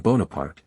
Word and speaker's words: Bonaparte: preferred to pronounce his name as it is pronounced in French Napoleon bonapart and this became the custom among people also